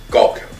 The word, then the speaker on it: Gulkham: It's a lifeguard, Karam, and I may be pronouncing it incorrectly, but it's K-A-R-A-M, Karam Gulkham, G-U-L-K-H-A-M, and he's a lifeguard manager at that pool.